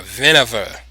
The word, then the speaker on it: Winawer: it's known as the Winawer variation, or Winawer, if you want to pronounce it in the German or Dutch way.